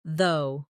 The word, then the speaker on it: though: For example, the word though ends with a g h, but it sounds like though.